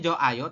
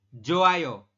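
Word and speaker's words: 좋아요: Joh Ayo seperti itu oke tulisannya Joh Ayo tapi kita membacanya adalah joayo joayo ya jadi Hnya tidak dibaca Jo a aduh sor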